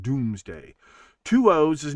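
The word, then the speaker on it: Domesday: He takes the census, the doomsday book, all those other things. Yes, it's pronounced doomsday. Two O's is not pronounced ooh. It's pronounced do. It is the Doomsday book, but it's not dome like, okay, here's my point.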